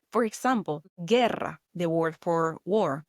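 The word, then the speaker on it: guerra: For example, gerra, the word for war, gerra. The u there is silent here.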